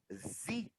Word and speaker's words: Xi: E no inglês, no original, se pronuncia Z.